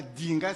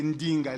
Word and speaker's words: Ndinga: exemple ndinga c'est pas le D c'est pas dinga c'est ndinga le D est mouillé les français n'ont pas ça hein si bien que il prononce